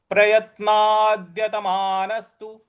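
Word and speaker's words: प्रयत्नाद्यतमानस्तु: तो प्रयत्नादत प्रयत्नादत मानसु मानस्तु न के बाद जो स है छोटा वाला जो स है उस पर भी हमको आघात देना है तो और त पर छोटी उ की मात्रा है तो उसी प्रकार से बोलेंगे तो यह पूरा पद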